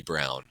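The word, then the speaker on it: Braun: so yeah um I always I always say Brun because Ryan Brun I I'm pretty sure it's Christian Brown I just no it's BR no it's weirdly Brown like weird oh so it's like pronounced brown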